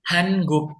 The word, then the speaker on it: 한국: Sama dengan Hanguk. Kenapa? Hanguk. N ketemu G, tetap NG. Hanguk.